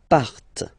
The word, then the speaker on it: partent: And the last persons, il, elle, partent. Remember, classic ending, ENT, but then you don't pronounce them.